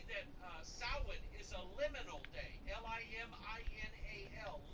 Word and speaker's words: Samhain: For instance, Samhain. Samhain is Halloween. It's on October 31st. Samhain is spelled S-A-M-H-A-I-N, but it's pronounced Samhain.